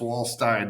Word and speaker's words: Waldstein: It's Wall Stein, not Steen.